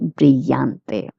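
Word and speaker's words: brillante: If you're in Latin America, you will pronounce the two L's as Y. Both pronunciations are right.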